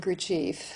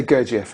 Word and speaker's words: Gurdjieff: Well, he stole it from Gurdjieff.